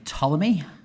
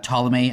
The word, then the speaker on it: Ptolemy: The classical astronomer, I think, might be Ptolemy.